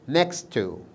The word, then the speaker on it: next to: next to طبعا ما نقول next to، لا ننطقها بهذا الشكل next to because we have two similar sounds so they are assimilated in each other.